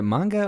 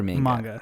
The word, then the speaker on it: manga: Is it manga or manga? Manga. Like if we want to be for real, it's manga. Yeah. Okay. Yeah. That's so typically a lot of these anime stem from manga, which manga is just